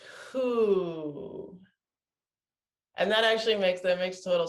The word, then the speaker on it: hu: It's who. And that actually makes total sense, actually, because that resonates with the organ. It's who, and it's pronounced that way. But it's spelled HU.